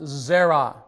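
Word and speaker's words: זרע: the last letter, which really is a silent letter for us, it's the letter ayin.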